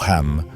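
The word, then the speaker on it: חם: Su nombre en hebreo pronunciado Ham significaba caliente u oscuro.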